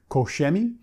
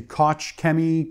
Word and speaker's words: Koch Chemie: and he said that in germany because these are made in germany they pronounce it majority of them say isaiah quicker something like koshemi so a lot of people say koch kemi koshemi listen unless we're german which i'm not um well please excuse me if i don't pronounce it properly koshemi as the germans would pronounce it hopefully let me